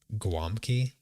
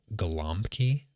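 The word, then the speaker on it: gołąbki: Um, but it's pronounced in words as a W, so that's why it's pronounced Guamki. And in that show, they say Golompki because when you write it out, it looks like it's Golompki.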